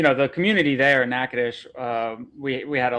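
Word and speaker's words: Natchitoches: and also how to pronounce the name of the city where you Nadesh. It's spelled Nacha toes, but it's Nacadesh.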